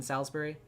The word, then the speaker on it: Salisbury: Oh, the eye is silent in Salisbury.